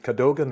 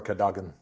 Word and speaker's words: Cadogan: Well, I mean, it's actually Scottish, so you could pronounce it Cadogan or Cadogan.